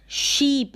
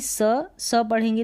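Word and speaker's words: sheep: Next देखें, यहाँ पर है नीज, शीप, इसको शीप पढ़ें, एस एच को श पढ़ें ना कि स पढ़ेंगे तो गलत प्रोनाउंसिएशन हो जाएगा। एस एच का साउंड जो है श आता है, जैसे यहाँ पर हिंदी में मेंशन किया है, इसको सीप ना पढ़कर शीप पढ़ें।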